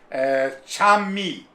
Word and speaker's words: Kyan: History of Okinawa Karate, Chanmi. So, Chanmi, as you know, Chan is how you, in Okinawan, Uchinaguchi is how you say the word Kyan. So they say Kyan.